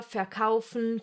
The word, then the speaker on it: verkaufen: Yes, the Germans will most of the time pronounce this letter like you would pronounce the English F. Like here in this number, 4. Some other examples are Vater, verkaufen, viel, vielleicht.